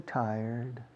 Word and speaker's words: tired: La única cosa que se me ocurre es la palabra taller, un taller mecánico en español, taller, taller, kit mecánico, taller. Voy a llevar el coche al taller. Ahora, decide esa palabra en vez de acentuando la segunda sílaba, la primera.